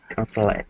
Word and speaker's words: consulate: When it's a noun or an adjective, it's just appropriate consulate. Okay.